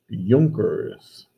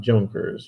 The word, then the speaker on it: Junker: landowning class the and this is pronounced junkers not junkers junkers the junkers were the